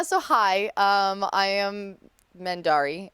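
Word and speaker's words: Mendarii: hi um I am mendari uh all over the Internet which is spelled m-e-n-d-a-r-i-i there's two eyes at the end very fancy yes um but people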